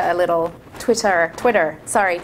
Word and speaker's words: Twitter: I find Twitter a little... Twitter. Sorry, I'm saying Twitter like an Australian. Twitter. Got to pronounce the R.